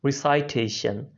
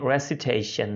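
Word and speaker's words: recitation: अभी ऊपर वाला वर्ड बहुत से लोग मिस प्रोनाउंस कर जाते हैं, इसको गलत बोल देते हैं रिसाइटेशन, लेकिन ये रेसिटेशन है, रेसिटेशन. और नीचे वाला है रिसाइट, तो इसमें ज़रा फ़र्क महसूस कीजिएगा.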